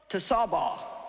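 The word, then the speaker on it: Tsebaoth: do and then the last one is jehovah to sabah and it's spelled t-s-e-b-a-o-t-h and it means the lord of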